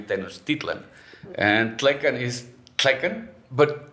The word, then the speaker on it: Tenochtitlan: Tenochtitlan, like Nahuatl always has the accent in the second to last syllable. Okay. But when it translates into Spanish, sometimes it goes to the last one, like Tenochtitlan, Yeah. which is actually Tenochtitlan.